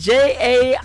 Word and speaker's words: Jaillet: The artist is Luke Jaillet, I think is how you say that. It is Jaillet, and he is from Nova Scotia, and what a great song.